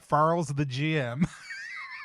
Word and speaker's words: Farles the GM: Farles the GM. I was going to try to pronounce that as one long word and it is not. It's Farles the GM.